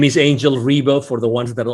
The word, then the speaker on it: Ribo: My name is Angel Ribo for the ones that are only listening and not watching this video and they don't see the visuals here on the screen.